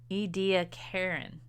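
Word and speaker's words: Ediacaran: Ediacarin, that's how you say it, microorganism, ediacarin.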